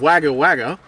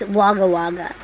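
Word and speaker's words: Wagga Wagga: you going to say Kate said it's waga waga and I was saying waga waga so if you've been laughing at how we've been saying it we only just learned that we were saying it wrong okay so stop judging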